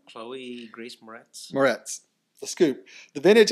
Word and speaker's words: Chloe Grace Moretz: Well, they're putting a new spin on it, starring Denzel Washington, Martin Kokoskis, and Cole Grace Moretz. Is that how you say her name? Chloe Grace Moretz.